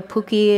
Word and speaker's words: puki: I wish I would have brought my pookie bottom. that I was kind of picked up from the Southwest potter friends. I don't know if everybody's familiar with a puki. It's spelled P-U-K-I, and it's a fired clay bottom